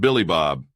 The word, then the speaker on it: Billy Bob: "It's pronounced Billy Bob," the trucker said.